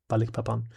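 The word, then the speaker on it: Balikpapan: Is it Balik Pan or is it Balikapan? Balik Papan. Balik Papan.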